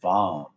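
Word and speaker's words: vam: associated with this area it is vom v like victor a like alpha m like mike bomb b j monitor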